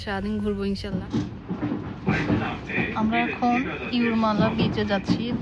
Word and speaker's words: Jūrmala: তো আমরা কাছে আছে ইউরমালা। ও ইউরমালা, হ্যাঁ, এখানে তো যে উচ্চারণ ওয়াই এর হয় আর কি।